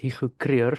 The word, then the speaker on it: Hugo: language was afrian so my name is pronounced hiu but Yugo is fine for people from English speaking countries I take no exception